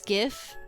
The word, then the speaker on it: GIF: cuz they save as gifts. If you don't say GIF as GIF, don't at me. That's how I say it. Um it's the word gift minus the T.